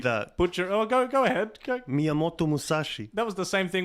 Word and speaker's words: Miyamoto Musashi: But yeah, this is the new Legendary Warrior, the Miyamoto Musashi. Oh, you butchered that. Oh, go ahead. Go. Miyamoto Musashi.